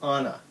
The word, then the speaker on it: Anna: have a daughter named Anna but in the movie it's Anna but they're all like Nordic and stuff so you have to pronounce it weird Elsa is not weird